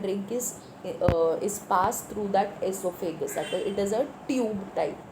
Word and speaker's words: oesophagus: Now your O is silent. You're going to pronounce it as esophagus.